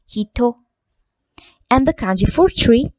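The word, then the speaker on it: 人: The kanji for person is pronounced hito.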